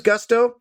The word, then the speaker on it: Gusto: Now, what is Gusto? Well, it rhymes with musto or rusto, as in let's do it once more with Gusto.